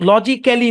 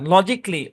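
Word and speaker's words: logically: বেসিকলি লজিক লজিক্যালি না লজিকলি প্র্যাক্টিকলি specifically অটোমেটিকলি বুঝছেন এটা সাইলেন্ট এবং উচ্চারণটা সিতে গিয়ে থামবে।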